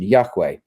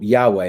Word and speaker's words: Yahweh: understood to be Yahweh, although we don't really know for sure how it's pronounced. But this is how conventionally we understand the pronunciation, Yahweh.